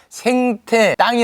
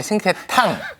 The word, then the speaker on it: 생태탕: 생태 땅이 아니라 생태탕. 내곡동 탕이 아니라 내곡동 땅.